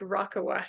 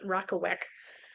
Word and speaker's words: Rakawa: So this is Rakawa, and yes, it's pronounced Rakawa, not Rakawek.